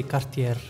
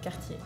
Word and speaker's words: Cartier: In Italy, I think we say Cartier with a strong R in the end. Cartier. So in France, we say Cartier. Ooh. Cartier? Sounds Cartier. Fancy. We do not really pronounce the last R.